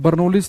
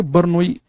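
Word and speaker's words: Bernoulli: हालांकि सही प्रोनाउंसिएशन है इसकी बर्नोई, बर्नोई, पर हिंदी में बर्नौली ही लिखा होता है, तो हम यहाँ बर्नौली का ही नाम बोल देंगे हम, बर्नौली की प्रमेय।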